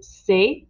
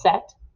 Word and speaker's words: c'est: First, you'll start your sentence with c'est, which can also be pronounced as set, or if it's plural, ce sont.